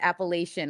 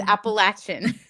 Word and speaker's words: Appalachian: I know that was when I called it Appalachian when I was of the north. Now it's Appalachian.